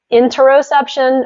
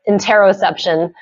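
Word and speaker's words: interoception: say as well it's interosception is that it yeah so that's a newer term for me you can say interosception or inter or interosception I've heard different um scientists pronounce it differently but yes this is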